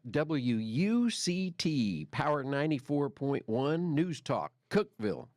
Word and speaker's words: Cookeville: Power 94.1 News Talk Cookeville Cookville as the locals say there and uh anyway